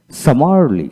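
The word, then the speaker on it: summarily: তারপর সামারলি, সামারলি, এস ইউ সা এম এ আর মার, সামার, এল এ লি, সামারলি। এখানে একটা এম সাইলেন্ট উচ্চারণ হবে না, আর এখানে আয়ের উচ্চারণ হবে না।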